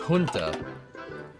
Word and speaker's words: junta: It's pronounced junta. Yeah, I suppose you're right, because Spanish.